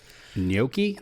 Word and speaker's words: gnocchi: no key he can't gnocchi that's gno c-cchi that's how you say that that's how he says it I just thought it was pronounced pretty sure it's gnocchi doesn't matter it's pasta